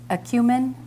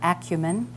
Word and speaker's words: acumen: Walker Tucker Gelman okay your word has two pronunciations acumen and acumen keenness and depth of